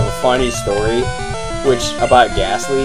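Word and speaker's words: Gastly: Like, Ghastly, the T is silent. You say, like, gas, and then Lee.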